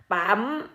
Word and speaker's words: ปั๊ม: ภาษา อังกฤษ เหมือน กัน ที่ ยูเอ็มที อ่าน ว่า ปั๊ม ปั๊ม เวลา เอา มา